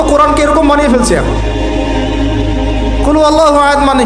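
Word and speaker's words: قل هو الله أحد: এটা উচ্চারণই বা কেমন করে করতে হয়? কুল, বলুন, হুয়াল্লাহু আহাদ, তিনি আল্লাহ এক। এই যে কুল হুয়াল্লাহু আহাদ অনেকে বলতে পারে না। কুল হুয়াল্লাহু আহাদ, এটা কি সব একসাথে মিলে একটা শব্দ?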